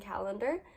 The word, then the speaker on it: Callender: And for this one, I chose Queen of the Conquered by Kacen Callender. Yes, I said that right. But it's spelled differently than calendar.